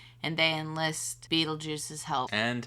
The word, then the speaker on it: Beetlejuice: and then well that's how it's spelled it's pronounced Beetlejuice yeah but the spelling of the movie is